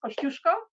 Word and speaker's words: Kosciuszko: that we we're proud of one is Mount Kosciuszko which we always always always correct people on it's pronounced Kosciuszko the other one is says lucky rangers and